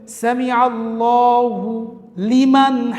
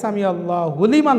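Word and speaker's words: سمع الله لمن: দুইটা একসাথে মিলায়ে পড়তে গেলে দেখা যায় সামি আল্লাহু লিমান হয়ে যায়। সেক্ষেত্রে আমরা স্বাভাবিকভাবে হুবাদ দিতে পারি না। আমরা লিকে একটু চাপ দিয়ে পড়লেই উচ্চারণটা সঠিক হয়ে যায়।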